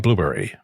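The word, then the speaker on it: Blubrry: for liberated syndications and blueberry b-l-u-b-r-r-y no that's not a misspelling the company name sounds like blueberry but isn't spelled like my favorite fruit both E's are missing the monthly fee for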